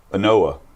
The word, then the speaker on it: Ynoa: How do you pronounce this guy's name that started for them yesterday? Anoa.